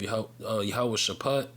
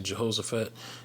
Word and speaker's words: Jehoshaphat: into the valley of Yahweh Shaphat. That's the proper way to say it, but here it says Jehoshaphat.